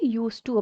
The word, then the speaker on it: used to: இந்த யூஸ் டு spelling தான் USEDTO வரும். ஆனால் நம்ம ப்ரொனவுன்ஸ் பண்ணும்போது USE தான் நம்ம சொல்லுங்க, டி ப்ரொனவுன்ஸ் பண்ணக்கூடாது. ஸோ நம்ம யூஸ் டு அப்படின்னு தான் நம்ம சொல்லுவோம்.